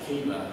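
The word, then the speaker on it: Chebar: of the Kiba River, so K-E-B-A, so it's Kiba, it's actually spelled C-H-E-B-A-R, but we pronounce it Kiba.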